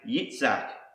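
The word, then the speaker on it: יצחק: meaning he laughs so in Hebrew it's actually Isaac's name is pronounced yitzak and this is the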